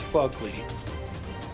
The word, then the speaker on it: Phogly: fugly dudes it's not it's fugly look at the way it's spelled they don't get it maybe if you